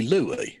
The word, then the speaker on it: Louis: so like that cuz it's not even Louis spelt with a W now it's clearly Louie yeah yeah well Louis Farrakhan we say the S cuz we're not near the French okay well I tell